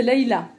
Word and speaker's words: Laïla: Mon prénom, c'est Laïla. Et en fait, ça s'écrit L-A-I-L-A.